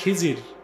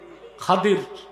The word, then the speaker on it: খাদির: আপনার নামটা ভুল বলেন খিজির, আসলে উচ্চারণটা কি? খাদির। খাদির, খাদরুন, খাদরা বলা হয় সবুজকে, খুদরুন সবুজকে বলা হয়। উনি যেখানে বসতেন ওই জায়গায় ঘাস হয়ে যেত, এই জন্য বলা হয় খাদির।